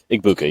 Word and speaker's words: Egbuka: So I obviously on the other side, we have how do you pronounce his name? Egbuka? Igbuka, yeah.